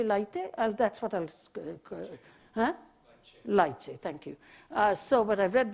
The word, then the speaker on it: Leite: shared by, I think his name is pronounced Leite. I've never met him. You know, the guy who's written the most wonderful little book. Is his name Leite? Jose Leite? That's what I'll... Huh? Leite, thank you.